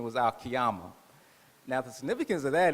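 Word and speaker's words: القيامة: in the nation i didn't know how to pronounce it properly so i said oh that's kiyema and that sounds like a good name for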